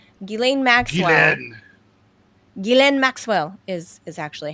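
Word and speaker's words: Ghislaine: Or as Americans would say, Guileain. Guilain Maxwell. Gillen. Gilen Maxwell is is actually how it's pronounced.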